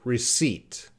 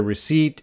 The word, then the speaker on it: receipt: So the example sentence there, don't forget to get a receipt after you purchase something. And purchase means buy something. Receipt. Receipt. So yeah, that P, no, because sometimes my students, because